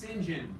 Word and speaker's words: St. John: It's pronounced St. John. St. John, thank you.